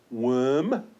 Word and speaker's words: worm: Now, when the letters OR follow a W, the pronunciation normally changes to that of ER, in other words, All right? Let's take a look. Worm, work, worth, worst, or worship.